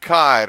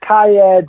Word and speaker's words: Kyed: It's a Danish last name. I think it's pronounced in Denmark.